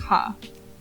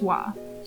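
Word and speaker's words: は: for ha are simple as a letter it is pronounced ha as a particle it is pronounced wah that's it now let's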